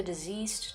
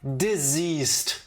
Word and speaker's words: deceased: Sprinkle the ashes on the effigy and repeat the name of the deceased 3 times. Deceased. Deceased. Yeah. What did I say? Diseased. Oh. Tifa, pronunciation matters.